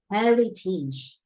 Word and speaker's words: heritage: Là cái này là âm y ở cuối. Tige. Chứ không phải là tage, alright?